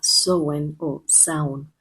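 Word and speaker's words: Samhain: Y uno de esos nombres es Samin, que hasta donde averigüé, tengo entendido, se pronuncia sen o sound y significa fin del verano en Gaélico.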